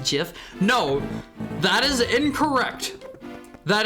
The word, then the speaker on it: GIF: It is graphics interchange format. It is not giraffic interchange format.